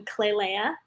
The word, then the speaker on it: Klailea: have a youtube channel which is my name clay leia and then i also have an instagram which is also clear can you spell it please yes it's k-l-a-i-l-e-a how did you